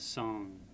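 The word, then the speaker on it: སངས: So it's not sayings, which is what it looks like. That would be trying to read it as though it were phonetics, but it's the transliteration. So again, essay reminds us of saw, ng of na, and s of saw again. So we have song.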